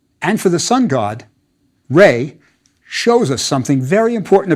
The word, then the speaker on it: Ra: the God determinative and that's Rey the sun god I bet you've heard it pronounced Raw that's fine too remember we aren't sure about the vowels the God determinative is